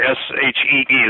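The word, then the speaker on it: sidhe: I'm talking about creatures that have passed into our common vernacular, whether they're fairies, gnomes, brownies, sprites, the sea, the S-H-E-E, the she, which is spelled S-I-D-H-E.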